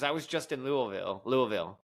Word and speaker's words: Louisville: Louisville is how you say it.